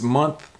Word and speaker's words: month: So this TH sound is a little bit different than a month, because month, the tongue is a little bit more through the teeth, like this.